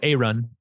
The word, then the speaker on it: Aaron: He pronounces it A-Run.